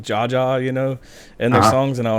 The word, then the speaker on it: JA: I was always kind of skeptical about Jaja. Yeah, that's like a shout out to me. Like they didn't know it's JA. Yeah, so they're saying Ja. Just pronounced it wrong.